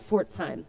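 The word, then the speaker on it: Pforzheim: one in particular um it's called Fort time the PE is silent I realized it's not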